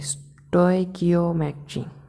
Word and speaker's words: stoichiometry: Okay, तो यार इसका प्रोनाउंसिएशन, ओह सॉरी, ये इसका प्रोनाउंसिएशन देखते हैं क्या है। Stoichiometry। ओके, स्टोइकियोमेट्री, अच्छी बात है, स्टोइकियोमेट्री।